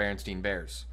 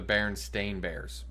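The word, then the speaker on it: Berenstain: called the baron or everyone says the book is called the berenstein bears but that's never been called the berenstein bears ever it's the baron stain bears spelled completely different and everybody mispronounces it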